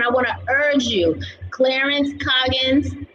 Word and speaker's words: Clarence Coggins: And everyone, I want to urge you, Clarence Coggins. Am I saying it right? Because I just been Yeah, like, you said it right. You said it right, Clarence Coggins.